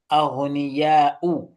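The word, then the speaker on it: أَغْنِيَاءُ: Why aghniya'un? I mean, why aghniya'u without the tanween? What's the reason behind that? It is mamnu min as-sarf. Okay, yes, that's a beautiful response from Brother Adam. Okay, so Sister Mutia, do you not know the answer? Yes. It is mamnu min as-sarf. It's a diptote.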